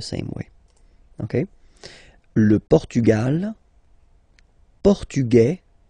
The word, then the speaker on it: portugais: Masculine, portugais. You don't pronounce the S, feminine form, portugaise, you pronounce this Z sound, okay?